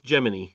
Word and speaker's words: Gemini: is NASA's position is it's Gemini.